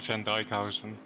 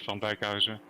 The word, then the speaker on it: Van Dijkhuizen: Well, in English pronunciation, it's Van Dijkhuizen. Mm-hmm. In Dutch, it's Van Dijkhuizen. So okay, so the N is silent.